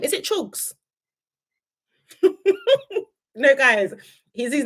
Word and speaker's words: Chugs: Yeah, I say it like a Nigerian, not for real. Oh my gosh, guys! I actually say it like a Nigerian. It's like Chags. Okay, Chugs.